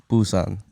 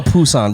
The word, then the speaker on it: Busan: Nah, it's Busan. Busan. They pronounce it with a Z, if anything, Busan. It's not no Poo-san, bro.